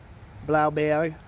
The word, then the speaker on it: Blaubeere: And the B-E-E-R-E is... it's a funny thing for English-speaking people to say. It's almost like saying berry. Right? Blaubeere. Beera.